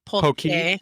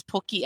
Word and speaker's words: poke: Washington state who hasn't tried a Pokeball it's pronounced usually incorrectly up there but it's poke yeah that's what people say I'm saying yeah and just say you know and whether you want to edit this Pokey actually means penis in Salmon so it's really